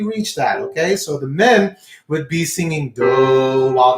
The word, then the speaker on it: mi: Okay, the third note, that is our me, M-I, is me, and you're going to sing me.